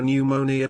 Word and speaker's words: pneumonia: Why can't you hear a pneumonia patient urinating? Because the P is silent.